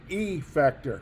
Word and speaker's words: effector: be careful with this it's almost like uh english class with af affect effect so effector kind of over pronouncing it there effector is the thing